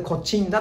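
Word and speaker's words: 東風平: したけど、これでコチンダと読みます。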